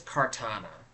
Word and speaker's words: Kartana: I forgot how to pronounce the name. I do believe it's Kartana.